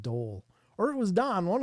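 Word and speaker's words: dhole: But basically, I covered a story about D-holes, and I was reading it like D-hole all night. And finally, somebody piped up in chat and said, that's pronounced dole.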